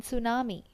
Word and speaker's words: tsunami: V still it's visit in tsunami T is silent t s u n